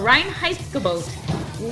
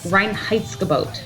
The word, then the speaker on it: Reinheitsgebot: so bear with us not even noon so Reinheitsgebot literally translates to purity command now often it's